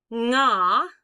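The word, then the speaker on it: が: Nga, let's talk about nga, okay? Don't make it ga. It's not ga. It's more like the ng sound in like sing.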